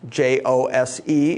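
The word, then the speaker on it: José: that we would pronounce J-O-S-E in the Spanish language is pronounced Jose, because the J and the H sounds move.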